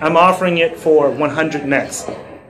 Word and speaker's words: NXT: out yeah it's it's spelled NXT without the E yeah now that was something I wish they would have never done hmm confusion doesn't help see adoption you call it next but you spell NXT